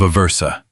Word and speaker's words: Aversa: troops under a commander named Vitale of Aversa, pronounced Vitale of Aversa.